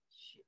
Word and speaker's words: 雪: 雪, there's a character pronounced 雪.